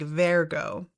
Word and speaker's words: Vergo: uh I think that the way he that it's pronounced in the show is like Vergo so I'm going to